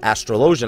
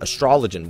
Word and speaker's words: Astrologian: I know the new healing class astrologian is pronounced astrologian and not astrologian which by the way bugs the hell of